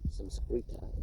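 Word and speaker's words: Saṃskṛta: Samskrita is how they pronounce that term in the language they call Sanskrit. We find, besides, a multitude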